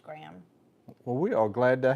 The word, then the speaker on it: Graeme: It's spelled Graeme. Okay. So I want to say Graham, but it may be Graham. It's pronounced Graham.